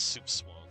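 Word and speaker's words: soupçon: It's pronounced soup swang.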